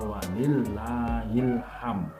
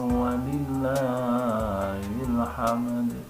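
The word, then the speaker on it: ولله الحمد: banyak yang belum tahu banyak yang membaca Wali Ilham ini yang jadi permasalahan ya kalau wanita Ilham ini maknanya sudah beda ya begini kalau bahasa Arab itu bikin Andaikan salah dalam pengucapan tetap maknanya sudah sudah berbeda yang benar Walillah allahu akbar allahu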